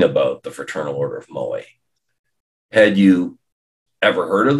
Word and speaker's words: Moai: It's the Fraternal Order of Moai, not the Fraternal Order of Maui. That's how so many of us pronounce it these days.